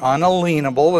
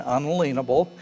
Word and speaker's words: unalienable: Declaration of Independence, the purpose is to protect the natural or unalienable, and that is a correct pronunciation, unalienable, rights of each individual.